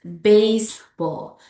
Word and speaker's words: baseball: So for the second example here is baseball, baseball, baseball, not baseball, baseball.